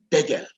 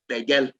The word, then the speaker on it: Degel: Unfortunately, here in Kaduna, they don't even pronounce Degel. There is Degel Road, but they call it Degel, unfortunately, and I hope that will be corrected. The correct pronunciation is Degel.